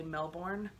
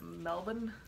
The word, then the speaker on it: Melbourne: In America, it looks like it should say Melbourne, but I believe Aussies call it Melbourne.